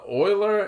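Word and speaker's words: Euler: have three bodies for those of you listening Oiler is spelled e l r right he was he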